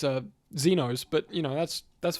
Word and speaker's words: Xenos: As an aside, uh some people pronounce it uh Zenos.